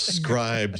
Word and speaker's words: Scribd: the chat room they'll tell us are we pronouncing this correctly beer beer there we go that's the beer it's scribed you idiots go or uses scribed everything comes